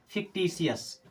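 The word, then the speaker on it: fictitious: एस इसे क्या पढ़ेंगे फिक्टिशस क्या पढ़ेंगे फिक्टिशस फिक्टिशस क्या पढ़ेंगे फ यानी कि टी के बाद में आईओ आता है तो उच्चारण कैसे करना है स सलम की तरह अगला ट्रिक हम देखेंगे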